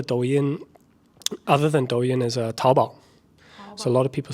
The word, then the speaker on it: Taobao: So another one, Chula Douyin, other than Douyin, is Taobao.